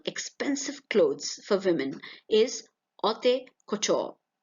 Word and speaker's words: haute couture: The business of making fashionable, expensive clothes for women is haute couture. H here is silent.